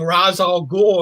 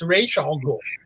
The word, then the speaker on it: Ra's al Ghul: characters yes I mean I hear people going Ra's al Ghul and I'll go no it's Rachel I'm so discus denny o'neil said so you know that kind